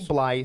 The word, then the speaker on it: Blythe: I've been a Blythe. metalhead. Blythe. Yeah. Okay, then I'm not So wrong. so You're not wrong. All right. No, So Blythe. Randy Blythe.